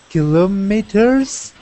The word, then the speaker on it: kilometers: over over good uh kilometers so that one is pronounced kilometers kilometers kilometers oh okay one more time kilometers kilometers not kilo killah okay kilometers kilometers yes ellie